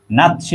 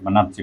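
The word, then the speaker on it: Nazi: party নাকি নাথজি party এটার উচ্চারণটা হবে বাংলায় কি হয় বাংলায় হয় নাতসি পার্টি বলা হয় এটাকে নাসি পার্টি হিটলারের দলটার নাম কি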